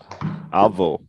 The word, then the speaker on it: avô: Careful when you pronounce grandfather and when you say I go. I go, eu vou.